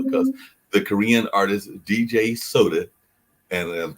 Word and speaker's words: Soda: Because the Korean artist DJ Soda, and I think it's pronounced just like you would a soda drink or soda pop.